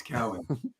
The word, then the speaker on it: Cowan: i'm glad that you corrected me before yes cowan that was great all right well i had